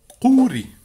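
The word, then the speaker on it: ყური: Ça se dit kouri. Je le prononce pas très bien. Si tu veux, c'est comme, imagine Y-O-U-R-I, comme le personnage caricatural du jeu vidéo Command & Conquer Alerte Rouge, Yuri, camarade Yuri. Sauf que le Y, les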